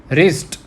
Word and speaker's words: wrist: Now next is wrist. Okay, so here we don't pronounce W.